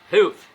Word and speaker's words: health: Health, eu não sei a pronúncia correta, tem que falar com a língua entre os dentes, né? Health.